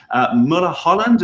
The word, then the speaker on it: Mulholland: And that's exactly what I did a few weeks ago, reaching out to Mulholland. Have I pronounced your name correctly?